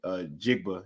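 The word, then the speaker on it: Njigba: We mentioned Smith, Jigba. Yeah, the end is silent. So I know this in terms of my Nigerianism.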